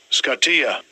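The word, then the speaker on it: σκοτία: Strong's 4653, all right, for darkness, all right, and let's get the pronunciation of that. Strong's G 4653, Scottia.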